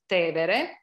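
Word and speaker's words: Tevere: cross to the river which we call in english tiber but in italian it's te vere so there is this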